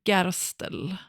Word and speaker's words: Gerstl: I want to talk about a man with the name I had to look this up how to pronounce it in Austrian German Rard Gastel.